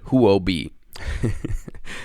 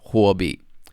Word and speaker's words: Huawei: it the exchange huawei they called it who will be and i'm going to tell you why it's not who i'll be it's hwabi actually it's in chinese means fire and b means